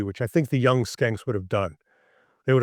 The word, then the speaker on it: Schenck: the phone and talking to Mr. Skank. That's Nick, where he's talking to Nick, and they got the pronunciation right.